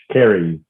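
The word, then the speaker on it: Karis: a carrie home you you say carry home carries carries kerry it sounds really funny it's spelled k-a-r-i-f k-a-r-i-s carries home yep carries home is it apostrophe yes serious home yeah so it's carrie's home yeah i said it right look at me and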